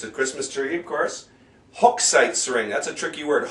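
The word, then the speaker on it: Hochzeitsring: tanen Bal it's a Christmas tree of course hook sites ring that's a tricky word hook sites hook sites ring and this is a monster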